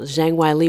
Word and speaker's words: Zhang Weili: Well, I will admit that I thought Zhang Weili, say it correctly now, Zhang Weili was going to win, but I did not anticipate a KO in 42 seconds.